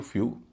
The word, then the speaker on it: few: FEW, फ्यू, EW से पहले एफ की फ ध्वनि है जो जोशीले चार में नहीं है, इसलिए उच्चारण हो रहा है यू, फ्यू। DEW, ड की ध्वनि है,